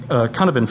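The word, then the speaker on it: Cynefin: famous for something called the conoven framework and it's a welsh word which is why it sounds nothing like what it's spelled like just like comrie and basically what he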